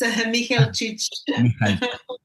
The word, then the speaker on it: Mihelčić: Today in our episode 146, we have as a guest Mihaicic. I pronounced it right? Yes, yes, almost. Mihaicic.